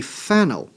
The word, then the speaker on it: phenyl: And notice the difference in pronunciation. When it is a substituent, that is a phenyl. When it is this guy with the OH, that one is phenol.